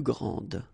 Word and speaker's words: grande: Okay, don't insist on the final but then pronounce this D, grande, and then exactly the same pronunciation, grande.